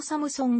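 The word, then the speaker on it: 삼성: 開始したルノーサムスンのハングルでの発音はるのサムソンが近くルノーサムスンでは通じにくいこともあるまたルノー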